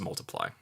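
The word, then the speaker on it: ×: by Beyonce X by edge here is pronounced multiply I'm sorry it's pronounced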